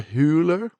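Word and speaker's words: Hüller: the flower Moon Sandra huler that might be how that umot is pronounced Sandra hooler in anatomy of a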